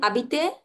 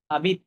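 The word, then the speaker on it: habite: হ্যাঁ, আচ্ছা, এরপর হচ্ছে ইল হাবিতে আবিতে আবিত, আবিতে না, আবিত।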